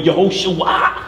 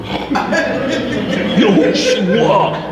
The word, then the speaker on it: Yehoshua: No, you got to say it this way, Yehoshua. Yehoshua. Come on, ooh, ooh, make the ooh sound.